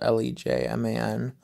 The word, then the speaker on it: Lejman: this guy named will legend last name is pronounced legends about le ji man you know and so we were driving um